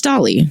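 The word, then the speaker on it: DALL-E: I'm going to say Dolly. I don't know if that's right, but that's how I'm going to pronounce it. Wall-E. It's like Wall-E, but with a D. So, it's Dolly, right?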